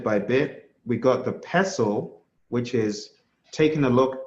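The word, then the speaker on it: PESTLE: It's called a pessle. P S Tle E. The next one is a teacup, pronounced teacup.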